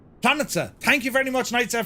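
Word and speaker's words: Planica: Pronunciation, says Nightsep, is Planitza. Planitza.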